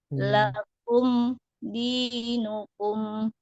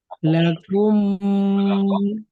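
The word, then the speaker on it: لكم دينكم: Lakum dinukum. Lakum dinukum. Aman. Atau lakum dinukum waliyadin. Setelah mim mati, apakah boleh dengung atau tidak berdengung? Betul betul. Ngom. Ya, berdengung. Yang berdengung itu yang mana?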